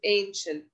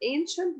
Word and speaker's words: ancient: old the same with ancient look at the word ancient we pronounce this letter this letter like sha ancient word okay let's